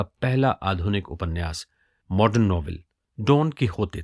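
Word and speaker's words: Don Quixote: इस Spanish novel डॉन कीहोते को लिखा जाता है DONQUIXOTE, लेकिन बोला जाता है डॉन कीहोते।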